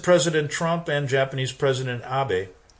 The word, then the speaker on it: Abe: Trump and Japanese president Abby see I pronounced it right I could have said Abe that's the way he spells it Bobby have been strident